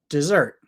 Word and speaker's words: dessert: then Zer dessert dessert I wrote zert bigger big letters because that is the stress part of the word that we focus on we don't focus on this part this part's lazy d d we focus on this part zert dessert also if you want